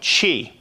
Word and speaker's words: Qi: tough time pronouncing it Qi technology which is pronounced I found out Chi uh not Tai Chi but she Qi it's